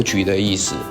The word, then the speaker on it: Bưu Điện: Thực ra nó không được phát âm là "sữa" mà là Bưu Điện.